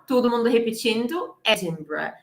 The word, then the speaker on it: Edinburgh: to go and see and visit edinburgh okay edinburgh edinburgh edinburgh it's edinburgh edinburgh edinburgh okay passage